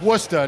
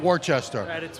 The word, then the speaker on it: Worcester: ever get to massachusetts it's worcester not worchester we're free balling i'm